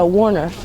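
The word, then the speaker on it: woonerf: street here, and this street is actually a Warniff, and that's spelled W-O-O-N-E-R-F.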